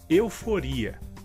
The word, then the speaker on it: euforia: A próxima palavra seria em espanhol eufória e em português euforia. A diferença entre essas palavras seria que em espanhol a sílaba mais forte seria fó e em português seria ri.